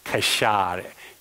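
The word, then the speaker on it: כשר: Kosher. Kashar. Is in the Hebrew, it's kashar.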